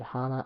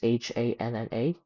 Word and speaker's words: Hanna: this guy named Ed Hanna or Ed Hanna, I I don't know how to pronounce his name, his last name, but it's h a n n a, so probably Hanna.